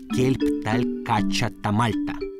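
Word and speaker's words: Kelb tal-Kaċċa ta' Malta: Только сейчас, встретившись с Филиппом, я узнал, как правильно на мальтийском языке звучит основное название этой породы. Кельпталькачатамальта.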